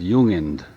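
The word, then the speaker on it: Jung: g uh I'm sorry no it's j it's pronounced with as if it's a y ju uh is German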